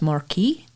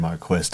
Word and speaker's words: Marquis: U I S and we usually pronounce that as Marquee. Yeah, I actually thought it was Marquee. I was corrected by a family. I thought you said Marquist.